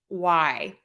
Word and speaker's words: graph: So I'm not going to say graphy like the word graph.